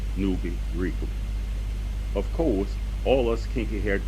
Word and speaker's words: Nuwaupu: And for the benefit of the reading public, the name Nuwaupu is pronounced Nuwaupu.